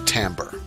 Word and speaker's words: timbre: the same thing and that Tambor is pronounced Tambor it is interesting that